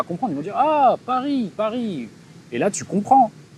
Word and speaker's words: Paris: C'est comme dire j'ai passé 10 ans à Paris, et le mec dit pas Paris, mais il va dire Poris.